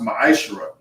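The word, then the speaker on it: מעשר: It means 10th in Hebrew, and it's pronounced ma'ashra. 10% of every penny of any increase the Lord gives you, give to the Treasury Department or Priest Fund.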